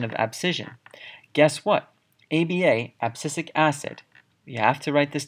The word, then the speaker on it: abscisic acid: of plant hormones next on the list is abscisic acid so this is pronounced and spelled abscisic acid more commonly just